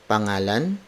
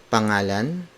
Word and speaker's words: pangalan: more word for word it's a no um pangalan mo I know um pangalan mo I know